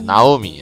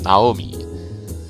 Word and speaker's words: Naomi: Yeah, Naomi, I'm trying to pronounce it properly. That's how you pronounce it in Japanese, Naomi.